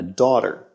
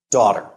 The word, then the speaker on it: daughter: And if the child is a girl, we call her a daughter. Now, you notice that the word is spelled with the gh there, but we don't pronounce the g and the h. It's silent.